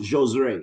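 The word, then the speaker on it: Josué: Yeah, is it Josue or Jose No, or? it's pronounced Josue.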